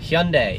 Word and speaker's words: Hyundai: today is Wednesday for Wednesday's block young day Hyundai yeah that Hyundai not Hyundai Hyundai pretty much everyone pronounces that last hour just one day you